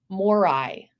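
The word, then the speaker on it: Moirai: fates in ancient Greek were called morai Mor yes and it's spelled a little bit differently it's m o i r a i but ahsoka's bird the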